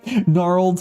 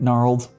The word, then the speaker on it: gnarled: some work in English I hate the packages of Silent G always English why are you the Way You Are English why is your silent G and gnarled never will remember anyways